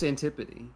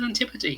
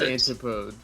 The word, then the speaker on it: Antipode: one Chrono Trigger an no it's antipa that's how you say it it is antipa yeah is it yes I always thought it was antipode it is a real